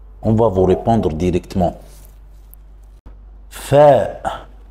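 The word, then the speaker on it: فاء: va vous répondre directement fa c'est la même prononciation de la lettre F en français fa exemple farasa farasa répéterz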